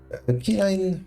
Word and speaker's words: quinine: Quinine pronunciation.